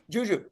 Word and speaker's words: JuJu: get you not a syllable has been spoken syllable I like the way you put that all right imagine Juju it's ju ju right yes sir I'm gonna